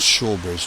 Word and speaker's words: Shaugh Bridge: I think it's pronounced Shaugh Bridge, not Shaugh Bridge.